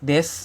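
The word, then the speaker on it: です: atau sopan ya dan biasanya huruf u biasanya tidak disuarakan ya pada desu ini ya dibaca jadi Jadinya Des contoh kalimat watasiwa gaksedes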